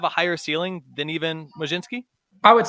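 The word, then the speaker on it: Mlodzinski: a South Carolina fan am i pronouncing that right Majin ski yeah Carmen Majewski it looks really weird but somehow you pronounce it that way still don't know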